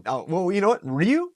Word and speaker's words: Ryu: always wanted to be Ryu from Street Fighter so look that's how you pronounce it oh gosh right oh well you know what Ryu little Japanese accent in there a little hadoken I